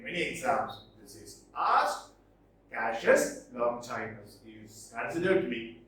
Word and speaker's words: Cassius: Pronunciation is very funny, right? Not Cassius, it is Cassius Longinus.